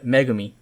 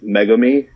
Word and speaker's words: megami: say it curious now they pronounce it like mega me yeah yeah i'm like she's not mega man stop it well again so you